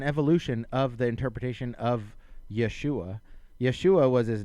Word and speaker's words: Yeshua: It's essentially more accurately pronounced Yeshua is the name from the ancient text, right?